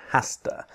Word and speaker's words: has to: has to do something the same writing different pronunciation okay so a job